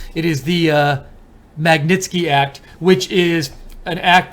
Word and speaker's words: Magnitsky: Let me just make sure I'm getting it pronouncing it right. It is the Magnitsky Act, which is an act the U.S.